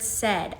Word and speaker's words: said: Now, if I show students the word said, I'm going to point out that AI is making the eh sound and I'm also going